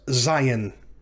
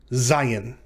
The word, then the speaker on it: zayin: Next consonant in Hebrew Alef-Bet is Zayin. Zayin. Zayin is pronounced like the letter Z in the English transliteration Zion, or in the English word zebra.